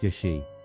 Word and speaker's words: jashi: Evil gaze written with the characters for evil, and sight, pronounced Yashi.